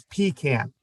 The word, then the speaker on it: pecan: with pecan farmers and they were quite clear that the pronunciation was pecan and any anybody who pronounced it differently was just wrong my brother was a